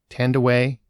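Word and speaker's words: Thandiwe: She just reverted back to her original name, and I want to make sure I treat it with respect. Tandeway Newton is how it's pronounced now, and her character is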